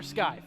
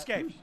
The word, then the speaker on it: Scaife: Oh, it is Scaife. Okay. I got one. I wasn't Scaife sure if it all was day. Scaife or Skype. It's Scaife.